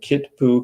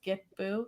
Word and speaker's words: Kitpu: those languages um where like the k makes a g sound it's not it's not the way that it's spelled so it's get boo so kind of like